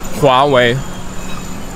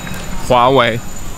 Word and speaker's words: Huawei: Für die Leute, die wissen wollen, wie es richtig ausgesprochen wird, es ist folgende Aussprache. Huawei. Huawei.